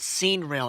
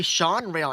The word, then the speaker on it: Sean Rael: his um oh sorry Sean Rael animation not seen real animation sorry I but I'm sorry if I butchered that I'm sorry if I butchered that I'm sorry about that um so yeah it's actually Sean rail animation I'm sorry if I